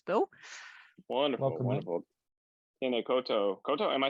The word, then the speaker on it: koutou: Tēnā koutou.